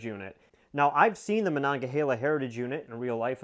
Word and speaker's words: Monongahela: i learned that the most common way people pronounce it is monongahela i probably should have known that considering i